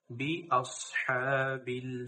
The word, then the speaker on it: بأصحاب: এখানে সদ সিন পড়া যাবে না, এখানে সদ পড়তে হবে। বিআসহাবিল ফিল।